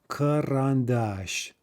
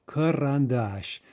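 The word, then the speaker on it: карандаш: maybe two syllables in front of the stressed syllable it reduces to uh gaziata karan dash karan dash okay so just compare remember we can transcribe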